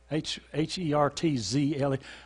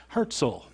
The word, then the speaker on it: Herzl: and away to any this is Theodor Herzl that's what he pronounced that Jordan HAART zle Herzl at or near 1948